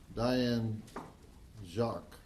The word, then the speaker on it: Diane Jacques: The director and producer of Hogzilla, Diane Jacques. That's how you say her name, right? Yes, Diane, what's your point?